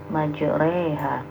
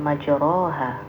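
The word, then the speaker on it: مجراها: Majreha ya. Jadi bukan majroha ya, tapi dibacanya majreha.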